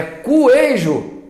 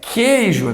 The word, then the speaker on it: queijo: É cuejo. Que é cuejo, coisa nenhuma, é queijo, é como se fosse um K.